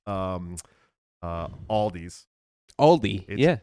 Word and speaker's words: Aldi: the S on and it's called Aldi Aldi Aldi Aldi Ryan I'm like what do you think of